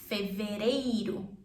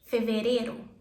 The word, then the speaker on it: fevereiro: February, fevereiro. Or you can skip the I and say fevereiro.